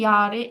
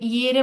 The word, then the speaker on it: Jahre: তাহলে হচ্ছে আপনি জাস্ট এইখানে একটু ভুল করছেন, ইয়ারে ইয়েরে বলছিলেন, এটা হবে ইয়ারে, হ্যাঁ উচ্চারণটা হবে ইয়ারে, ইয়ারে।